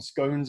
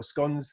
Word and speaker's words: scones: Doing scones on the or scones, if we're going to say it right, on the front.